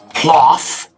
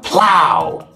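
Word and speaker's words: plough: know it's plot sir it's not cloth it's plow plow o-u-g-h sounds like how say it with me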